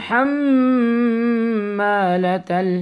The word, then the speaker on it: حمالة: Wa imra'atuhu hammalatal hatab. Wa imra'atuhu. Wa imra'atuhu hammalatal hatab. Hammalata. Don't say hammalata. It's a common mistake, but try your best to pronounce it ha from the middle of your throat.